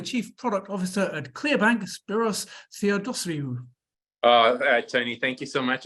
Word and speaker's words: Spiros Theodossiou: So please welcome the Chief Product Officer at ClearBank, Spiros Theodosiou.